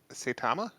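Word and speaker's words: Saitama: main protagonist Department uh satama is how you pronounce his name yep all right so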